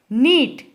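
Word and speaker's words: knit: We only write K. Do not speak K. Then here neat.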